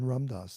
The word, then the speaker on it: Ramdas: Yeah, in Ramdas, and later in this line. So here we have a long A sound for Ramdas.